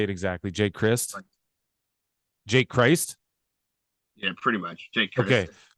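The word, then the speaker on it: Crist: Jake Christ.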